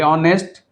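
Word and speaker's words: honest: जो है silent letter यानी हैच का आवाज नहीं करना चाहिए। ऑनेस्ट ओ से प्रोनाउंसिएशन स्टार्ट होगा।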